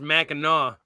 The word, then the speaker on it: Mackinac: it's actually pronounced Mackinac. That's a C at the end of it.